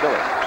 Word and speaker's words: Mueller: Spelled like Mueller, but pronounced Miller.